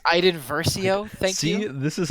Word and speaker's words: Iden Versio: Dude, if I'm playing a Star Wars game, I don't want to play Eden Verso. I want to play like. Excuse me, it's pronounced Iden Versio.